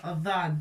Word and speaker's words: ضاد: Il faut surtout s'entraîner pour prononcer la lettre Dhad. C'est Mufakhama.